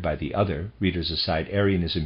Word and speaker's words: Arianism: the other readers aside arianism here i'm going to pronounce it that way is spelled though a-r-i-a-n-i-s-m